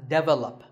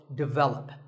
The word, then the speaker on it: develop: This is pronounced wrongly by many learners of English as develop. But the first syllable is actually di, and the stress is on the second syllable, so develop.